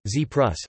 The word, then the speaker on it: z Prus: It became spruce because in Polish, z prus, sounded like spruce.